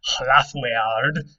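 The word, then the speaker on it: hlāfweard: Now, Lord comes from two Old English words, hlaf-weard, that's about how it would have been pronounced, and lady comes from two Old English words, hlaf-dig.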